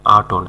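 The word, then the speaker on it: attain: আটন আটন মানে হচ্ছে প্রায়শ্চিত্ত করা, আটন ATON আটন মানে প্রায়শ্চিত্ত করা। আটেন মানে অর্জন করা, আটেন অনেকে এটাকে এটেন বলে, তবে সঠিক উচ্চারণ আটেন অর্জন করা।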